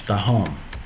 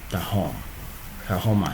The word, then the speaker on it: Tahoma: If it is Tahom, you can use Tahom. And it will become the same. Tahoma, not Tahom. It is spelled Tahoma, not Tahom.